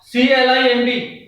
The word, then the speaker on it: climb: thumb not the thumb c l i m b letter M is before b letter B will be silent and we call it climb not climb and is before B